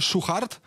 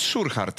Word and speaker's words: Szuchart: Więc na pewno wymawia się Szuchart. Tomasz Szuchart. Tomek, wszystkiego najlepszego. A ja myślałem, że jest Szurhart, szczerze mówiąc. Nie, Szuchart.